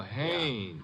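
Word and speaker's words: Haines: Oh, Hannes. Yeah. Do you know him? Well, he's a fellow named Hines used to fish. No, no, no. Not Hines.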